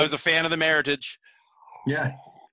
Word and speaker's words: Meritage: Yeah, but you just said it right again. Meritage.